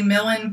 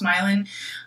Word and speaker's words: Milan: I want to say Millen, but I'm sure it's pronounced Milan.